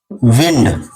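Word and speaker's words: window: मैंने तीसरा बोला है डब्लू अगर किसी वर्ड के अंत में आता है जैसे विंडो तो यह डब्लू साइलेंट हो जाता है अब आती है बात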